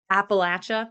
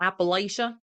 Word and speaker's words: Appalachia: But isn't like Appalachia, that's how you say it, not Appalachia, Appalachia.